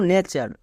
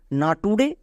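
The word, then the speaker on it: nature: বাধ্য নেক্সট যেমন দেখো নেচার একে অনেকে ভুল করে উচ্চারণ করে না টুরে কিন্তু এর সঠিক উচ্চারণ হবে নেচার নোট না টুরে কেন চলো এক্ষুনি বুঝতে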